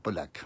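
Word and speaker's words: Pauillac: On a bien prononcé Polac, hein, c'est ça, Polac.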